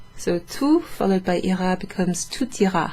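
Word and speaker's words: tout: followed by ira becomes tut you pronounce the t let me write it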